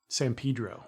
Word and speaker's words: San Pedro: How do you pronounce the name of the place that you live? San Pedro.